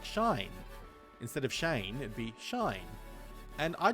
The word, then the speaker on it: Shane: Shine," and he said, "Say it properly. It's Shane, not Shine."